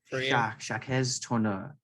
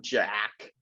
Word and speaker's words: Jacques: do all right yeah it's french it's not jack jack yeah there you go